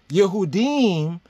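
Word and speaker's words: יהודים: times they'll say judeans yahuddin is how we will say it right in the Hebrew yahuddin right but then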